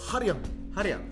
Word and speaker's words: 한량: But you pronounce it as Hanryang.